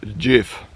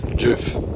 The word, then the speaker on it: Gjógv: Also der Ort nennt sich Jif. Lustige Aussprache. Jif.